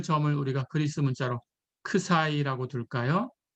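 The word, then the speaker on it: ξ: 자, 그 점을 우리가 그리스 문자로 크사이라고 둘까요? 예, 이거는 크사이입니다. 그리스 문자. 예, 발음 기호는 읽을 때 크사이 이렇게 읽으시면 됩니다.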